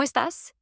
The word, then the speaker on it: estás: Notice the stress is on the last syllable. Estás, not estás. That stress matters in Spanish.